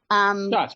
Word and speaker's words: Schatz: Schatz, you're correct.